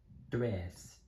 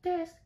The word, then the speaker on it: tres: Uno, dos, tres, cuatro. You missed the pronunciation for three. Dress. Let me try that again. Uno, dos, tres.